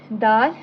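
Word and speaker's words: دال: Daal and daad. Daal will be pronounced in a thin tone, whereas daad will be pronounced in a thick tone.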